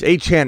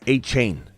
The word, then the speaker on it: Achane: Achane, it's Achane, not Achane hybrid. Get it right.